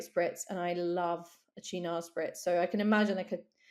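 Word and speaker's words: Cynar: But it's pronounced china.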